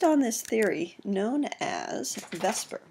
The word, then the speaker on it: VSEPR: It's based on this theory known as Vesper. We call it Vesper even though it's spelled a little differently.